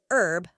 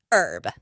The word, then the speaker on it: herb: as shedule oh and the way Americans say herb without the H always catches me off guard we pronounce the H in herb it's fascinating how these